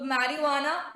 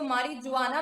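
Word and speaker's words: marijuana: ठीक है, इसको मारिजुआना मत बोलना please, pronunciation wise J silent होता है, इट इज मैरिजुआना।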